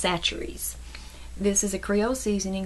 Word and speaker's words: Chachere's: see it's spelled with a CH a it's pronounced chachere's this is a Creole seasoning this is the